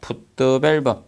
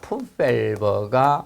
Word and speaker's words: 풋밸브: 그리고 20번에 보시면, 자, 풋드밸브. 자, 풋드밸브는 원래 이 흡입구죠. 흡입구 부분을 풋드밸브라고 합니다. 정확히 발음상은 풋밸브가 맞아요.